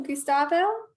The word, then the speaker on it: Gustavo: All right, Gustavo? Hello, you pronounced my name right, so yeah.